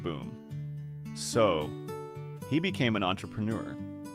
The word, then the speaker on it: entrepreneur: So, he became an entrepreneur. Let's practice the pronunciation of that word because it is tricky. It is French in origin. Entrepreneur.